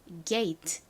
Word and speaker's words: gate: 되게 애매하다라고 말씀드렸던 이유는요 천천히 정식으로 발음을 하면 gate gate 이렇게 소리가 별개로 나는데 빠르게 발음을 할 때에는 마치 다침처럼 들리는 경우도 꽤 있어요 그래서 gate가 아니라 빠르게 하면 이렇게 들리기도 합니다 트 소리가 거의 잦아들고 마치 받침처럼 그렇지 짧게 발음이나요 하지만 천천히 또박또박 정확히